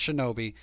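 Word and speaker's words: 忍: itself and it is a noun and it's pronounced shinobi and like i said in the tahiki it's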